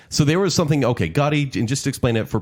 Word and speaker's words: Gotti: know how it happened because it's like Gotye goatee goatee yeah John Gotti no I